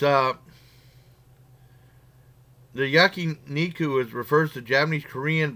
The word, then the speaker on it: yakiniku: eating these I'm pretty good I give the yakiniku that's how you pronounce it yakiniku Santoro got you stuck nine out of ten